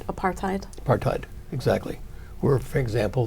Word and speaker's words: apartheid: well only those countries that were involved in apartheid if I say it correctly apartheid apartheid exactly where for example the city of